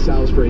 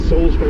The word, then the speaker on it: Salisbury: back of the box saying it's Salisbury, not Salisbury. I can go with that. The matter of pronunciation, I see the way it's spelled and the way it's said are obviously There's a man at odds with each other somewhat. I think a man has